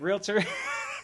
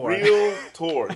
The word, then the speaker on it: realtor: as the realtor um I hate mispronouncing that but realtor because everybody does real looks real tour but you actually got